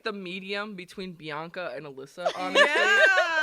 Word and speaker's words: Bianca: and nieces and nephews they always call me banka because they could have pronounced Bianca yet they forgot the extra syllable hi friends let me